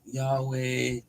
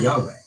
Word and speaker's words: Yahweh: Because the name was considered too holy to pronounce aloud by later Jewish tradition, the vowels were lost. In most English Bibles, it is translated using capital letters as Lord to reflect the Jewish practice of saying Adonai, meaning my Lord, instead. Most scholars agree that the original pronunciation was likely closer to Yahweh.